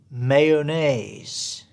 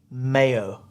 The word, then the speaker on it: mayonnaise: Number 10, in the North, the word is a 3-syllable mayonnaise. Mayonnaise. Or they sometimes shorten it to 2 syllables, mayo. In the South, the word is mayonnaise.